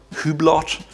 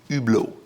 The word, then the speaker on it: Hublot: It's not Hublot or Hublot, it's Hublot. Again, silent H.